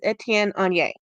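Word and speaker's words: Étienne Aigner: I looked up the pronunciation. It is Etienne on Yay.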